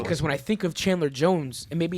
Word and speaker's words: Chandler Jones: I didn't know who the hell Chandler Jones was. You remember it now? And I was That's kind of a dumb kid. I am kind of a dumb kid. And I pronounced his name Chandelier Jones.